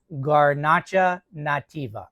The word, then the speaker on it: Garnacha Nativa: We were instructed that this wine is pronounced, and I'm going to read my notes, Garnacha Nativa.